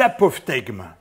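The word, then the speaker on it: apophtegme: J'adore aussi les apophthegmes. Bon, je reconnais que le mot n'est pas facile à prononcer.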